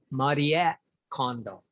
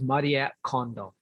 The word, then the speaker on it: Marie Kondo: And by condo, I mean, the correct pronunciation is Marie Kondo. She sort of anglicized it for 𝗣𝗂𝘂𝘀𝗵 so that they can hear it better. But her name is Marie Kondo.